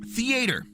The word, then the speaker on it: theater: If I want to vote for the theater and yes, it is theater. Theater, not theater, not the tree. Theater. No, theater. Theater. It is three syllables.